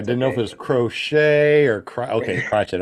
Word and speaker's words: Crockett: can't be afraid to say it it's crotches crotch it okay I didn't know if it was crochet or cry okay watch it all right I